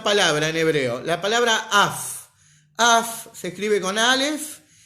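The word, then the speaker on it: אף: El Rebbe durante esta sijá habló mucho de una palabra en hebreo, la palabra af. Af se escribe con alef y con fei.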